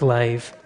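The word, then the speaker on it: לב: The Hebrew word used in this verse for heart, it's spelt leb, but it's pronounced lave.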